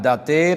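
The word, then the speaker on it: ض: একপাশ থেকেও করা জায়েজ প্রথমে আমরা মাখরাজে চলে যাই সাত নাম্বার মাখরাজ জিহ্বার ঘোড়ার কিনারা একপাশ বা উভয় পাশে উলিয়ার ঘোড়ার সাথে লাগাইয়া যদি বাংলায় বলেন উপরের মাটির দাঁতের ঘোড়ার সাথে লাগাইয়া উচ্চারিত হয় এই হরফটি উচ্চারণ করার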